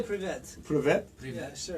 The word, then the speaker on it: Привет: Privet. Like a pit. Like, No, just say привет. privet. Yeah, sure. Like prevent. Prevent, but without N.